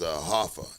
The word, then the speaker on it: HO2FA: His name is Hoffa. It's spelled HO2FA, so it's spelled the way it's said. It ain't 2 F's, it's 2FA, the number 2.